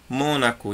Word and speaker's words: Mônaco: Mônaco e paralelepípedo é proparoxítona e espécie paroxítona.